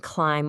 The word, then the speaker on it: climb: You don't pronounce the B in climb or bomb because it's following that M, and you don't hear it in doubt or subtle because it comes just before a T.